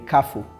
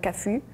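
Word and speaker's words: Cafu: actually okay I'm saying like how should I pronounce it like he in Brazil we say kafu in Turkey we say kafu in the United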